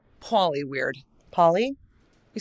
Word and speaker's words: Pauly: You say Pauly weird. Pauly? You saying Polly?